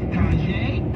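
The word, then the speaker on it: Tajai: I'm your host, Tinka, and we're talking with Tajay, correct? That's how you pronounce it?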